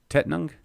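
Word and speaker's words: Tettnang: somebody help me here somebody spell it out phonetically tettinger ten anyway drama dairy dromedary tet nung tet nung yeah there we go who said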